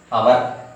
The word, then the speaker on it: hour: ఎందుకు యాన్ వస్తుంది అంటే మనం ప్రొనౌన్స్ చేసేటప్పుడు ఈ హెచ్ అనేటువంటి లెటర్ డిజపియర్ అయిపోతుంది, మనకి ఉచ్చారణలో కనబడకుండా. ఏమంటాము అంటే అవర్ అంటాం, అవర్ OUR అవర్ అంటాం.